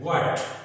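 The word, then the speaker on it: what: व्हाट, यहां पर भी हम क्या कहते हैं? व्हाट। तो एच का यहां पर भी कोई उच्चारण नहीं है, एच यहां पर भी साइलेंट है।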